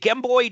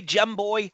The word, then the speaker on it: Gemboy: Is it Gamboy? Gemboy. How do you pronounce it? Yeah, it's more gemboy because No, like gem like diamond.